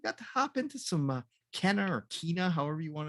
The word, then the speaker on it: Kena: You got to hop into some Kenna or Kena, however you want to say it. Kena? It's Kena? Yeah, it's pronounced Kena. In the game, that's how they say it and everything.